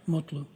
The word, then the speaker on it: Mutlu: Mutlu.